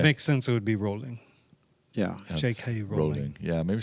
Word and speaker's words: Rowling: They call her Rolling, don't they? Yeah. And that's how it's spelled.